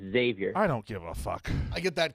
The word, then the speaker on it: Xavier: how you pronounce xavier it's not eggs xavier it's xavier i don't give a